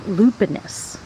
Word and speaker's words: Lupinus: varieties so I looked it up and it's pronounced lupinus so even though I call it Lupine I'm